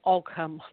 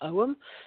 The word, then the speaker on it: Ogham: It's often people often say Ogham, but it's actually Ogham, like you owe them money.